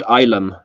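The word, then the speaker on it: Ylem: Oh, Ilum? Yellum? We pronounce it Ilum.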